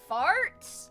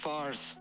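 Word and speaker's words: Farz: It's Fars. F A R Z.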